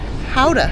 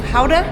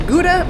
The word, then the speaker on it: Gouda: So our first stop, we were recommended to come here to Howa, which Americans pronounced as Gouda because it is known for Gouda cheese.